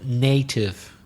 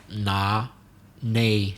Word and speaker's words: native: good of the word native the vowel sound native not nah-neh native so the sound is a like my name or name native native speakers and